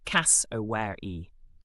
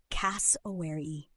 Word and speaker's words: cassowary: Aussies say it like this: cass-o-ware-e. Keep the stress right at the beginning on cass and let the rest glide out smoothly. Cass-o-ware-e. Don't overemphasize the middle vowels. Keep it fluid.